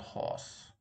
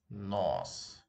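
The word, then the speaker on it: нос: The next one is not horse, right? It's nose. Nose.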